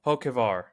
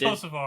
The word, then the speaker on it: Hocevar: Hokevar. Ben Rhodes, Nicholas Sanchez, Matt. It's There you go, Hocevar. see? It's Hocevar.